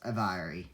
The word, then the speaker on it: aviary: Well, it's kind of similar to the name Avery. Well, it's aviary, not Avery.